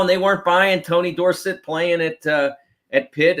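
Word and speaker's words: Dorsett: they weren't buying Tony Dorset playing at uh at pit and I say Tony Dorset because he was still dors because that's how it was it's how it was said dors yes but but those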